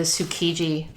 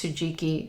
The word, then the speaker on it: Tsukiji: I thought it was Tsujiki. I probably said it wrong in my video, but it's Tsu- Kiji.